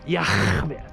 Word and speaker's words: Yah: His name is Yah. That's how you pronounce it.